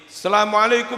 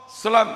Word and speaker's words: assalamualaikum: Assalamualaikum warahmatullah. Selam. Apa itu selam? Hal itu tidak diperbolehkan. Seharusnya al diikuti oleh sin, dibaca sebagai. Itu yang benar.